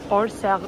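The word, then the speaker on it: Orsay: Evet Orser Müzesine geldik arkadaşlar. Böyle okunuyormuş.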